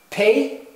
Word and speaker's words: pei: Pei, your p sound, your p sound, pei, and pei also has a final form.